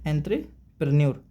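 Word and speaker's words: entrepreneur: Correct pronunciation क्या होती है इसकी? एंथ्रेपन्योर।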